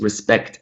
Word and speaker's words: respect: Respect, respect, regardless of whether we use respect as a noun or a verb, it's always going to be the second syllable here.